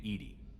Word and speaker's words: EDI: why are you named Edie Edie is the phonetic pronunciation of EDI that is an acronym for enhanced where are